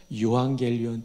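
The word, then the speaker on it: εὐαγγέλιον: 근데 헬라어에 12권짜리 언어 사전이 있는데 편저자 이름을 따라 키텔 사전이라고 하는데 이 사전에 보면 유앙겔리온 뜻이 많은데 그 중에 하나 주목할 것은 전쟁에서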